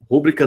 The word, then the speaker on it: rubrica: no Atacadão daqui viu rubrica não é proparoxítona tá Sérgio ela é paroxítona a pronúncia correta é rubrica nada de rubrica é a